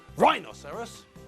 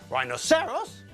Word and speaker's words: rhinoceros: third word well there it's a four syllable word but the apostrophe shows us that the stress comes on the second syllable rhinoceros not rhinoceros not rhinoceros and not Rhino serous of course the stupid